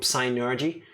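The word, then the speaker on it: Psynergy: into and go with synergy like suddenly we have kind of like a like a southern tang like psy energy penis but for p is silent enos yes but yeah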